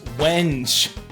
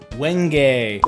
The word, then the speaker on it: wenge: this is wench I'm just kidding it's pronounced wenge which makes perfect sense